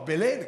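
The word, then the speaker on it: Belén: No, Belen, che poi fra l'altro si pronuncia Belen, ma qui siamo a Genova, si scrive Belin.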